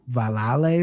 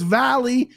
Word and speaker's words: Valle: It's a Spanish name, and it's really pronounced like Mike Valale or some shit like that. And that's how Anik pronounced it. And Jason just went off on him like, we're not doing that here. Fuck you. It's Valley. Everyone knows that.